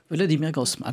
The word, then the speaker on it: Volodymyr Groysman: gouvernement, je vais encore me tromper dans la prononciation, mais vous allez me rectifier, de Volodymyr Groysman. Volodymyr Groysman.